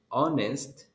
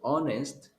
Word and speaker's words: honest: you say this word honest you don't pronounce the h in the word honest you don't pronounce the a so you will say an honest an honest person he